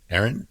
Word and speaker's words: Eiren: So, And Ron, you're going to have to say his name cuz I don't actually know how to spell say E I R E N. Aaron.